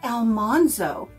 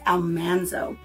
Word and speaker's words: Almanzo: you may say country Mama you're saying his name wrong it's Almanzo it's not Almanzo I've even heard a voice recording of Laura Singh his name as Almanzo that's why she called him manly it was Almanzo so this was originally printed in 1980 and